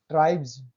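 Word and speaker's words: tribes: शब्दों के अंत में बी ई ji double ji जी E double E आई ई ओ ई वाई ई एफ आई और इसके तुरंत बाद एस आता है तो इसको उच्चारण ज होता है।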